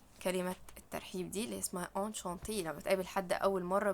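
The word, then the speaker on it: enchanté: والاو دي لو الكلمة لو انت بتتكلم مع بنت فانشانتي، هي الاتنين نفس النطق، انشانتي انشانتي، بس لو انت بتكتب يبقى تحط لها او.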